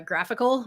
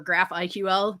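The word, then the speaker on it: GraphiQL: on most graphql servers it's called uh graphical or graph iql depending on who's pronouncing it it's a way of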